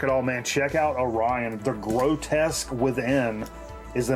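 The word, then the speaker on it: Oreyeon: Orion, and it's spelled O-R-E-Y-E-O-N. That pisses me off.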